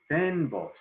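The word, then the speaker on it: fynbos: have a scene of what we call the fan box it's spelled f-y-n-b-o-s the pen boss habitat which has some really really unique plants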